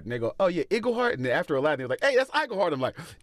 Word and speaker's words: Iglehart: It's that great thing of, like, you know, spending 40 years of your life going, no, it's Iglehart, it's Iglehart. And they go, oh yeah, Iglehart.